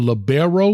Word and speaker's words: libero: am I saying it right? The libero or liberon? Libero.